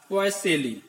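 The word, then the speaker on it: Poiseuille: हैं, which is also called Deka पॉइज और पॉइसेली।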